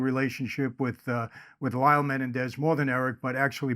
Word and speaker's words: Menendez: I said it right A lot of people correct me they say Michael it's not Menendez it's Menendez I do my best sometimes I slip back but it is Menendez and we'll follow that